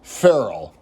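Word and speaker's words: ferrule: Oh, and this little thing that goes on the back here on the gas drive, it's a Ferrell, like Will Ferrell.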